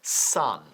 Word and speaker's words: son: Escrito son, pero pronunciado son, ¿ya?